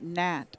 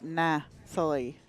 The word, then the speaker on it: Nathalie: Yeah, and it's actually it's not Nat, it's Nathalie, and yeah, and because you pronounce the TH in the French, so.